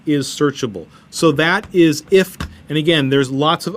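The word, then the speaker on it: IFTTT: I-F-T-T-T, IFT. It has a thing called recipes, that if you do something, then something else happens.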